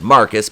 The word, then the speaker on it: Marquise: stance against mary and marquise pronounced marcus because he's [ __